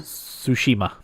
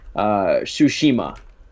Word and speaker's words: Tsushima: Is that how it's pronounced? Tsushima? Tsushima.